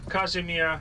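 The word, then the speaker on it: Kazimierz: section of it and the name kashmir it's a bit difficult to pronounce if you're a non-uh polish speaker uh it's the name of a polish king kazimier the great this is the only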